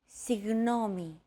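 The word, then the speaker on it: συγγνώμη: between the small separation another approach is to try to pronounce a g as if an H sound were to follow after it and hold that sound while you exhale the after sound created by that H is what you're looking for listen as Chrissy demonstrates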